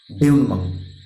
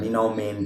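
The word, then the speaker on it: dénouement: ডিনাউমাং বা ডিনাউমেন্ট, আমরা বলে ফেলি ডিনাউমেন্ট, কিন্তু ডিনাউমেন্ট কিন্তু নয়, ডেউনমাং। উচ্চারণটা কিন্তু ডেউনমাং হবে, DENOUEMENT।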